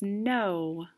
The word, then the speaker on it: know: next clue this is a word that begins with a silent k and it's four letters what's my word my word is no i'm gonna move the